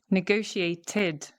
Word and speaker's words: negotiated: What about this one? Negotiated, negotiated. Because we've got the T before the ED, right? The T, so then we add the id, the extra syllable.